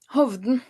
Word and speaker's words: Hovden: Tell me tell me how it's pronounced. Please correct me. Hoven Hov.